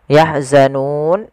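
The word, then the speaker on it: يَحْزَنُونَ: Ini kan awalnya nun. Nah, karena kita waqaf nun itu biasanya kita matikan. Huruf akhir di dalam bahasa Arab biasanya dimatikan. Atau ketika membacanya. Yahzanun, dan sebelum huruf yang dimatikan yaitu sukun aridnya, itu ada huruf mad. Baik itu alif, waw atau ya. Nah, ini yahzanun. Nah, ini asalnya mad tabi'i yahzanuna.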